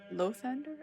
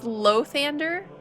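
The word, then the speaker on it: Lathander: a house of lothender low Thunder is that how you pronounce it oh my God I swear you can't you can't get the names right it's loathander but there is an a come on where's my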